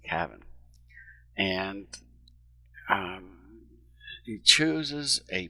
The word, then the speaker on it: Cavan: couple of things that Kevin's doing with this book by the way his name is spelled c-a-v-a-n it's not Kevin like k-e-v-i-n's cabin and um he chooses